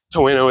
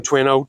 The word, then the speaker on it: Toano: in James City County toeno is the is the name of the town um tuano tawano it's kind of one of those potato potato sort of things people pronounce it different ways so really just depends on on uh on what you like to say I guess so we